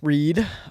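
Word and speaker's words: Reid: So, for number one, we got Andrew Reed, R. Say it right. Say it right. Andy Reed, R E I D.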